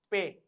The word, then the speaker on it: pe: P is pronounced as pe. The pronunciation of P is pe.